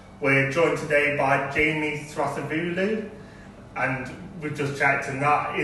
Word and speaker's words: Thrasivoulou: We're joined today by Jamie Thrasivoulou, and we've just checked, and that is how you say it.